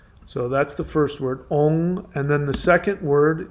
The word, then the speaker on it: Om: Om, and you've got it written down the way most people write it, but that's actually not the most accurate way to pronounce it. So let me spell it out for you. So the Om word people think is OM. Even people in India think it's OM. It's not. It's ONG, and that's a long O.